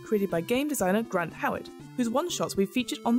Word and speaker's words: Howat: And Howat is spelled Howitt.